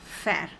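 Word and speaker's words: faire: irregular verb in French and the verb is fair the verb is fair f a i r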